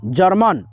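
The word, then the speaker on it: German: उसके बाद से MAN, जर्मन, गवर्मन नहीं पढ़ना, जर्मन।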